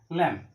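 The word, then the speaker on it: lamb: ল্যাম্ব, বিয়ের উচ্চারণটা হয় না, ল্যাম্ব।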